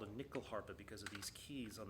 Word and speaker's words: Nyckelharpa: It's spelled Nyckelharpa. And it's a weird word, and I sometimes I say it with a weird accent, Nyckelharpa, because this instrument comes from Sweden, And the word nyckel,